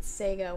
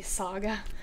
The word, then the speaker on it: Saga: this comic called saga I said Sega when I was there and the guy corrected me is a saga but it is by